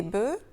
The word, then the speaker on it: bœufs: Notez bien comment on prononce bœuf, un bœuf, des bœufs, et ça c'est exactement la même chose que un œuf, des œufs.